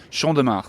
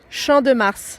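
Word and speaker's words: Champ de Mars: I've ever had today we're sitting on the Shand de Mar how's my pronunciation sh de Mar yes it's fine you say it Shand de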